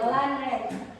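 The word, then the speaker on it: landrente: disebut dengan landenren lenren kalau di Belanda bacanya ada e-nya lanren Len itu t nah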